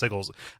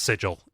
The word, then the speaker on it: sigil: come again with that word uh it's it's pronounced sigal you know is Sig no it's it's sigil it's uh yeah it's sigil but they spell